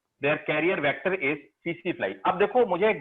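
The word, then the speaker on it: tsetse: हाँ सीसी फ्लाई, ये सीसी टीसी लिखते हैं ना, इसको सीसी पढ़ते हैं, सीसी फ्लाई, टी साइलेंट है, देयर कैरियर वेक्टर सीसी।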